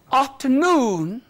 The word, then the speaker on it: afternoon: Now, two element words, compound words, but equally both are stressed. But there is a pitch change, as you said. Pitch change on the second. Second. For example, afternoon.